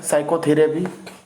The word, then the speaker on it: psychotherapy: Clear, चलिए same thing साइकोथेरेपी। साइकोथेरेपी बस वही चीज़, हम पी को क्या कर रखेंगे इसमें, पी के इसमें साइलेंट रखें।